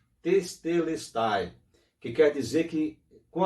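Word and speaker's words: τετέλεσται: Essa palavra em grego pronuncia-se testelestai, que quer dizer que com a sua morte ele cumpriu todo o propósito de Deus.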